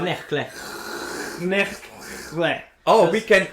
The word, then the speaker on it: Knechtle: Am I saying it right? Yeah, it's alright. Knechtle.